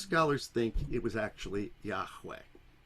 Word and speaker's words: Yahweh: together all right and they scholars think that the way they pronounced it was Yahweh but we don't really know have you ever heard